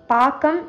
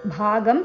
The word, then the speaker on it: பாகம்: பாக்கம் என்று உச்சரிக்க வேண்டும், பாகம் இல்லை.